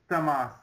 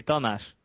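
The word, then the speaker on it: Tamás: thank you um greetings thas I hope I pronounced your name right well we we we say it slightly differently but don't care about it because it's just we say thash ah thas but doesn't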